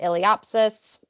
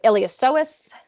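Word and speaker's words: iliopsoas: So we have that longisimous dorsy we have that ilopsis sorry ilosis I always want to pronounce the p ilosis complex along with all of our abdominals kind of on our more vententral side there.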